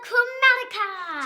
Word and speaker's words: Chromatica: Lady Gaga, Chromatica.